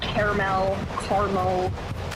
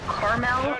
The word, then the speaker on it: caramel: How do you pronounce the caramel? Is it 2 syllables, caramel, or is it 3 syllables, caramel?